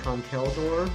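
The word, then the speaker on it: Conkeldurr: If I get a second Girder, I can finish off that line and evolve it into Conkeldor, which I recently found out is how it's pronounced.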